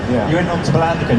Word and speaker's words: Palandöken: And I think you went on to Palandöken. How's it pronounced? Palandöken. Palandöken. Yeah. You went on to Palandöken.